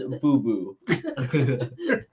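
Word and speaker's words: Boo-Boo: just feel smells like Boba I just just feel Tony melting down from here as you name the vill uh you're pronouncing it wrong it's boo boo what does that smell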